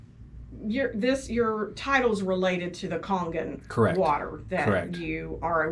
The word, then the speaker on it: Kangen: And what helps me is to think of like King Kong, like Kangen, because I've heard a lot of people that don't pronounce it correctly.